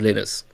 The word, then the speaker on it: Linus: But one thing that I don't negotiate with and I really like to not mess up is pronouncing Linus as Linus.